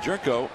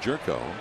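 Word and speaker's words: Gyorko: that change up one ball in one strike jerko spells it name g y o r KO but it's pronounced jerko second round draft choice 236 average he doesn't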